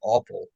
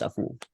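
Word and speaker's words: Afful: his last name was awful that way technically it's pronounced a fool yeah nobody cares about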